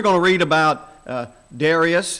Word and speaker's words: Darius: to read about uh Darius is sometimes pronounced and or daras and there are two